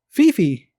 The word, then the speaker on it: Phi Phi: it there, he said Kiki, but the natives, they said, oh, he must be talking about Phi Phi. But he mispronounced it, and then they were trying to interpret it, and they somewhere along the line got mixed up, and now they call it Pee Pee.